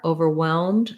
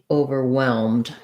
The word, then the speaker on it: overwhelmed: So again, here's our WH that just says a W sound. So I would, again, go for your red tent, your F vowel. The stress is on the whelmed part, overwhelmed. So you might want to just say that part of the word first, whelmed, then add your short over. There's our sound, overwhelmed, overwhelmed.